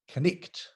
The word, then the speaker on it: knight: The word knight, you know, a dashing knight on a charger in his armor. Well, how do you get knight from K-N-I-G-H-T? But in Middle English, that word was pronounced knicht.